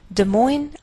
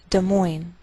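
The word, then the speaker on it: Des Moines: Springfield Illinois Indianapolis Indiana De Moine Iowa note that we treat the name of this Capital like one word and the greater stress is on the second part so we say De Moine de moin Iowa and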